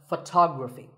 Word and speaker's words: photography: next word is photography we say photograph but photography so the first syllable becomes and the stress goes to the second syllable tog Rafi so photography in the same way